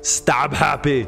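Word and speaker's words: Stabhappy: a melee weapon there Rick dolphin and it's pronounced stab happy okay Arnie I guess it's your turn stab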